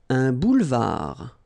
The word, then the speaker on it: boulevard: Un boulevard. Final D not pronounced.